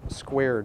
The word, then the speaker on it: Skvare: Despite its spelling, it's pronounced Square.